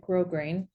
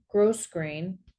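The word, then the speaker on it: grosgrain: out on the word I would call it grow grain they pronounced it gross gross grain and when asked they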